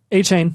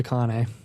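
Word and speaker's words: Achane: Zach Chardonnay and Devin a chain a chain yes Devon a chain yeah I thought it was akane yeah well we've been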